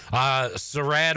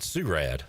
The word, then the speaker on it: Sarad: Sarad Ware is one of those guys. They call him Big Sue, but his name is Sarad, not Surad.